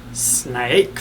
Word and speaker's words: Syn-Ake: It is Syn-Ake venom for your face. The spider. Syn-Ake, Syn-Ake. I guess it's probably pronounced like snake.